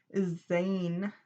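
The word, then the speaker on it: zayin: completion as well as in hebrew zed is is pronounced or is called zane uh some of you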